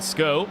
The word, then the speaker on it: Schou: Jan Schou, though, he's, Sko, as we'll get ourselves our pronunciations correct here, in towards the NGK chicane.